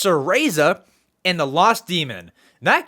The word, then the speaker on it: Cereza: I have written down how to pronounce that. Sereza. It's Cereza and the Lost Demon.